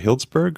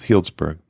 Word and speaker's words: Healdsburg: you pronounce it Hill is it Hillsburg or Healdsburg Healdsburg okay and in the meantime